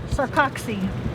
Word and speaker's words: Sarcoxie: Sarcoxie.